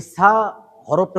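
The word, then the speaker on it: ث: যেমন বা গেল তা এর উচ্চারণ যখন করব দুই দাঁতের মাঝখানে জিহ্বাটা দিয়ে একটু বাইর করে তাছা এই সাফটা হচ্ছে একটু নরম সা সা তারপর হচ্ছে জিব এটা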